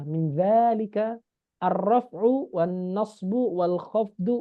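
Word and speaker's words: ذلك: Falil asma'i min dzalika, meskipun di sini nggak ada alif lurus, tapi di sini bacanya panjang ya. Min dzalika ar-raf'u wan nasbu wal khafdu wala jazma fiha.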